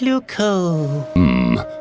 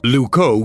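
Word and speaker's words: Loucaux: wrong now what's wrong luco doesn't really rhyme with bordeaux it's spelled completely differently really luco is spelled l o u c a u x you can't write limericks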